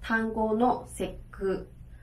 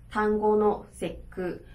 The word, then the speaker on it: 端午の節句: 那端午节句的话，我们就做念作端午の節句，端午の節句。OK, 好，那